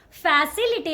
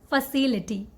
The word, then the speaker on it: facility: But the correct way to say this word is not facility actually. The right way to say this word is facility.